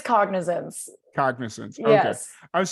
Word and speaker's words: Cognizance: I'm not going to sit here and butcher the name of this. It's Cognizance.